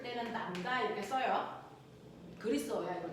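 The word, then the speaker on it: λ: 그래서 이런 얘기인데 파장을 우리가 간단히 기호로 쓸 때는 남다 이렇게 써요. 글이 써야 이걸 남다라고 읽어.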